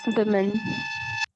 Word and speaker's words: women: Is it Women. oo or we? We. We. It's Women. we, not We. oo. When it is singular, if it is woman, that is okay. Oo is there in singular, but in plural it is not oo. It is women.